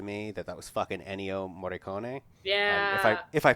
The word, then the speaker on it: Morricone: that was fucking Ennio Morricone. Yeah. If I pronounced that wrong, I'm sorry. I got a D in Italian, and no, not in the funny joke way. No, Morricone is how it's pronounced.